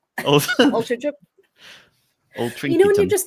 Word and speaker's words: Altrincham: I know how to pronounce it now. Altrincham. Altrincham.